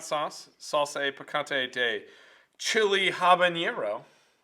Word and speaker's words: habanero: salsa picante day chili habanero n spanish but then you pronounce the h it'd be habanero they don't pronounce that h well spanish more of